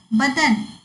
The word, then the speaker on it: बदन: वदन मतलब मुख, बदन शरीर, व और ब, देखो इसके उच्चारण में भिन्नता है और इसके अर्थ में भी भिन्नता आ गया है। तो इसको बोलते समय वदन और बदन बोलना है।